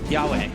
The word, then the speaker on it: Yowe: So chat said it was Yowe. Yahweh.